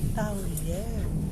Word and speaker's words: Taoyuan: They pronounce it Taoyuan.